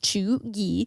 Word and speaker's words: cheugy: According to the New York Times, cheugy, pronounced cheugy, can be used broadly to describe someone who is out of date or trying too hard.